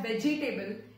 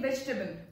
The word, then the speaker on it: vegetable: People pronounce it as vegetable. You don't have to put stress on E. You don't have to stress on E. It is simply vegetable, vegetable and not vegetable.